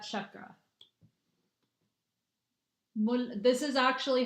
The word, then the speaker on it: chakra: Mulad chakra. This is actually how you say it. Mulad. And by the way, it's chakra. It's chakra, not chakra. By the way, it's Chuck as in Chuck Norris.